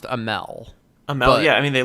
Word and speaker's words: Amell: I think it's pronounced Amell.